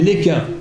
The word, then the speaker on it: Lesquen: Alors le S se prononce, à la différence de l'aéroport de Lille, qui n'a rien à voir avec moi, on dit Lesquen.